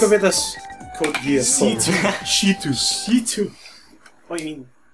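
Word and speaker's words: C.C.: C2. C2. What do you mean? CC? CC. Oh. That's how her name is spelled, but she's called C2. It's annoying when people call her CC.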